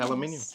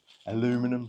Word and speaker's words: aluminum: They're aluminium, yeah. Aluminum, sorry. I keep saying it wrong around here.